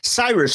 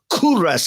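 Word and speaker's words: کوروش: They ended up being taken captive to Nebuchadnezzar and it was a great Persian king named Cyrus or Kuras as my neighbor tells me is the Persian pronunciation.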